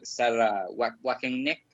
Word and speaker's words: Sarah Wagenknecht: se quiere, rancia en algunos puntos, liderado por Sarah Wagenknecht, así se pronuncia, fundó una alianza que literalmente se llama